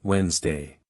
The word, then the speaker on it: Wednesday: For example, saying comfortably instead of comfortable, which should be pronounced more like comfortable, or saying every letter in Wednesday instead of the correct Wednesday.